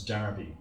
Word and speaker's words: Derby: Despite its spelling, it's almost always universally pronounced as Derby throughout the UK.